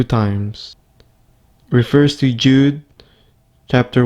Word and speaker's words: Judah: The letter of Jude, more accurately Judah, according to the pronunciation in Greek and Hebrew.